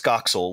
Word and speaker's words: Scoxel: provide that it's pronounced scoxel which i you know back when i thought it was being clever about web urls it's scott and pixel mashed together so anyway um it's